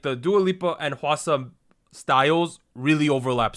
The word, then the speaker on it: Dua Lipa: So I think it's Dua Lipa. Is that how I pronounce that?